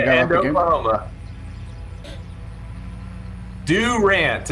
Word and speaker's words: Durant: Durant is how real Okies pronounce it.